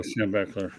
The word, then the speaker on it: Schembechler: Am I pronouncing his name right? Oh, Schembechler, right.